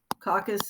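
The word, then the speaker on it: coccus: a spherical cell shape that we call caucus caucus is singular and listen to how i'm saying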